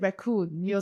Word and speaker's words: wreckoon: We call it wreckoon. Spelled with the W-R-E-C-K, wreck.